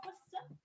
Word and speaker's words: Worcester: One in Worcester. Is that how Yes, you pronounce it? Worcester.